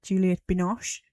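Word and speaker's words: Juliette Binoche: Um, and as I said, Juliet Binosh, which I've just learned today is how you pronounce her name.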